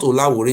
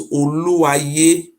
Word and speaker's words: Oluwaye: So for your information, the Olawure It's not Olawore, it's Oluwaye, Oluwaye of Hussein, not Olawore, because we don't know how to pronounce the name.